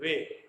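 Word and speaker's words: weigh: ई आई जी एस टी, एट, जी H silent हो रहा है इसमें। डब्ल्यू ई आई जी एच, वे।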